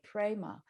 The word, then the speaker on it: Prema: Universal love in Sanskrit the word is Prema p-r-e-m-a Prima and that's written on